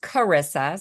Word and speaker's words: Teresa: And yeah, my name is pronounced Cararissa, so hard C.